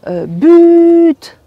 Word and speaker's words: but: foot qui ont dit but tout simplement bon la tendance est de prononcer le T quand il s'agit d'un but d'un goal comme on